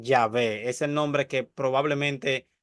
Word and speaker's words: Yahvé: yh antes de es antes se pronunciaba Jehová pero probablemente debería pronunciarse yahvé es el nombre que